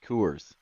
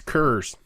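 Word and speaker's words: Coors: we go uh no that would be the Kors oh you're mispronouncing it's curs oh c actually we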